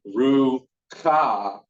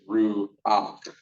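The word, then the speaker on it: רוּחַ: So ruach, and so you're going to add that ah before you give that ruach. It's one of the only words we're going to pronounce the vowel before the consonant. R-U-A-C-H is the way you pronounce that. Not ru-ka, it's ru-ak.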